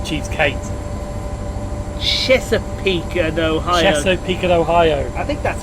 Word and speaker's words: Chesapeake: Opened up the coal lands north of Sandy Ridge Mountain, forming a connection with the Cheapskate. No, that's not Cheapskate. Chesapeake and Ohio. Chesapeake and Ohio.